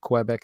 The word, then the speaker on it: Quebec: Not Quebec, it's Quebec.